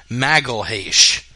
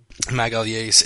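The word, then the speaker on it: Magalhães: Phil Davis taking on Vinny, and I'll pronounce it like the UFC countdown guy said it, Magalhaes. Which it's not Magalhaes. Ramses, if you want to give us the correct pronunciation. Magalhaes.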